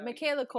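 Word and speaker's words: Michaela Coel: Anyway, Michaela Cole.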